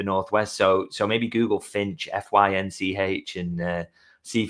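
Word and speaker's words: Fynch: called Finch, which is spelled F Y N C H. So, I feel like a little bit of a tribute to me, but apparently not. Um so, Finch.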